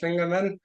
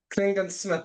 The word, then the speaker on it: Klingensmith: very special guest lingerman did I pronounce that right uh no but that's fine cling cling Smith Smith Clingan Smith not men okay I need to